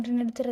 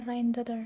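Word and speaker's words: Rindsdottir: Oh, bukan Rindudotir, tapi bacanya Rhine-daughter.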